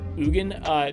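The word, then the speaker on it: Ugin: Final Planeswalker, we have Ugen, the Ineffable. That's how you pronounce it.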